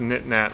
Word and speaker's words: Knit Nat: It's pronounced Knit Nat like Kit Kat.